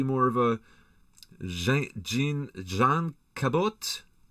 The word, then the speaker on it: Cabot: of a Gene John Cabot Cabo with a silent T Cabo isn't that what